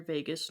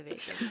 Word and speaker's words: vagus: I know it's not spelled like Vegas, but now Mm. I'm thinking about it like the vagus nerve.